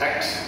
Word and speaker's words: ACT: You must pronounce it as ACT, because the founder said you have the way to pronounce it.